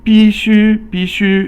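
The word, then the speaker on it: 必须: And then so 笔记本 or 笔记本 is a notebook, and 必须 is you must do something. Fourth tone is 必, and then 须 is first tone, must.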